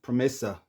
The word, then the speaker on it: Pramesa: It's pronounced Promesa.